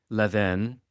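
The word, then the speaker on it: Levain: These are cookies by Levven. It's a French word.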